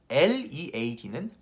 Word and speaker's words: lead: 을이라는 발음인데 혀가 이에 붙어요.